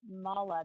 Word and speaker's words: mala: I sell, and y'all are going to have to forgive me, I hope I'm pronouncing this correctly, mala beads, M-A-L-A, bracelets and yoga clothing, and mala bead kits.